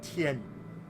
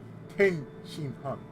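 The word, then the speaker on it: Tenshinhan: Like Tien, they always add an extra vowel in there. Like his name is not Tien, it's Ten Shin Han.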